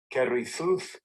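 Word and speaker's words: כריתות: is it is kerrythooth and this is the pronunciation strong's h 3748 kerry thought kerry seuss carrie though second entry carrie thought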